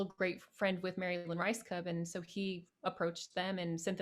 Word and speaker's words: Rajskub: Lynn Rajskub. Okay, so Rice Cub. Rajskub. Yeah.